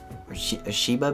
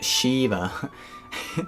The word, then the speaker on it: Shiva: i just watched a movie called shiva baby sheba baby what's it called yeah shiva baby shiva baby how do you say it shiva shiva you say shiva so recently i watched a movie called shiva